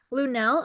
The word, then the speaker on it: Lunell: Does she pronounce her name Lunell? Yes. Okay. Lunell apologizes to Pete Davidson for touching him on live TV.